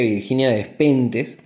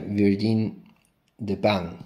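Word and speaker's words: Virginie Despentes: video anterior eh dije Virginia despentes eh le llaman la despentes aquí en España pero en realidad eh se debería pronunciar Virgin de pan no bueno cosas cosas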